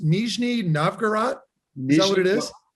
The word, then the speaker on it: Nizhny Novgorod: So you were in, is it pronounced Nizhny Novgorod? Is that what it is? Nizhny Novgorod.